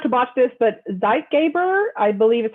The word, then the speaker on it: Zeitgeber: say it first so zeitgeber is the stimulus that resets circadian rhythms and it's a german word and that actually means